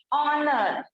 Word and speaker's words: honour: तो H silent वाले word कैसे हैं? ऑनर, HONOUR।